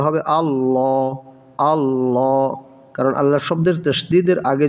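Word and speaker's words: الله: হামজা লাম জবর আল লাম খাড়া জবর লা উচ্চারণটা হবে আল্লাহ আল্লাহ কারণ আল্লাহ শব্দের তাশদিদের আগে যদি জবর থাকে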